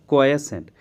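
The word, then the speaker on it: quiescent: इसका मतलब क्या हो जाएगा, स्थिर या इनएक्टिव को कहा जाएगा क्वाएसेंट। आपने क्वाइट वर्ड सुना होगा, QUIET। अब इसको थोड़ा सा और इंटेंसिफाई करते हैं, क्वाएसेंट।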